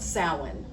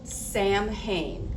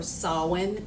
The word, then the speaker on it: Samhain: of the old Celtic, which was called sin. It's spelled Sam Hayne. S A M H A I N. But it is sin or sawin depending on what you celebrate.